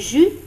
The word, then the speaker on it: jus: prononce pas le thé dans le mot jus on prononce pas le s dans le lot fruits